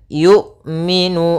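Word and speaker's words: يُؤْمِنُ: tertahan dan nafasnya tertahan kemudian yumminu hati-hati jangan sampai terbaca dengan y Jangan dibaca dengan Ain sering juga terjadi kesalahan adalah membacanya dengan Ain Bagaimana cara melafalkan Hamzah yaitu dari pangkal makhrajnya adalah pangkal tenggorokan kita yang dekat dengan dada y kemudian Nun ada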